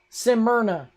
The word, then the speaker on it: Smyrna: New Smyrna. Is that how it's pronounced? Smyrna.